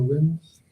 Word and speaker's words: Nguyen: All right, It's pronounced win.